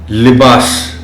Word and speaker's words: لباس: خاص توجہ چاہیں گے۔ لباس، لام کے نیچے زیر کا خاص خیال رکھا جانا چاہیے۔ ملک، یہ لفظ اور